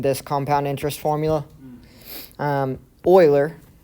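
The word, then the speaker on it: Euler: guys remember seeing this compound interest formula um Oiler spelled like this worked on this if I put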